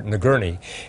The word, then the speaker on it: Nagourney: want to correct myself i mispronounced the doctors name is dr. nagurney and we one of